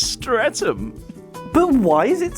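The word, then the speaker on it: Streatham: Could you tell me how to get to street ham?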